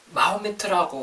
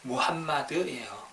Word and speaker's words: Muhammad: 우선 마호메트라고 하는데 이 표현은 잘못된 발음이고요. 약간 영어식 발음 같은 건데 원래 이제 원어는 무함마드예요. 무함마드.